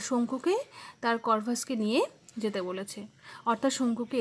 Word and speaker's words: Corvus: দেখো CORVUS, এটার pronunciation হচ্ছে করভাস। সহজ যোগ বিয়োগ করতে পারছে।